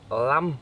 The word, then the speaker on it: lum: We call this lam, pronounced lam in Thai, spelt lum in English.